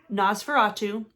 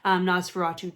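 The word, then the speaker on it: NOS4A2: i want to read nosferatu which that's how i'm pronouncing it but it's literally the letters of a um license plate but it's another joe hill book and i'm thinking people call it nosferatu um don't know anything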